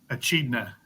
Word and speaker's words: echidna: Can you pronounce that, Moose? Echidna.